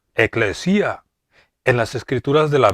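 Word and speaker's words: ἐκκλησία: palabra iglesia viene de la palabra griega que se pronuncia eclesia en las escrituras de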